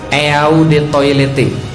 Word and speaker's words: Eau de Toilette: Parfum asli ada tulisan di bawah botolnya, Eau de Toilette. Eau de Toilette artinya adalah eau de toilet bacanya.